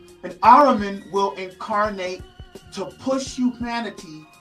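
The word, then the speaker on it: Ahriman: This new spirit that has possessed mankind black and white is they call it arraim. Aram sorry I said it wrong. An Araman will incarnate to push humanity toward extreme materialism, intellectualism and technological control.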